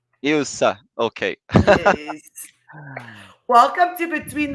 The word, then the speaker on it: Ilse: I pronounce your name is Ilse? Yes, Ilse. Ilsa.